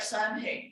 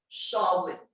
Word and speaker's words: Samhain: It looks like Samhain, but it's actually pronounced Samhain.